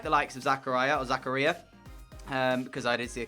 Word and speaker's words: Zakaria: like the likes of Zakaria, because I did see a comment, that's how you pronounce it, Zakaria, I would actually potentially let them go.